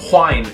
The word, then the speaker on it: whine: But some people consider the WH to be a different sound and say wine and whine as totally different words and hear it as totally different words.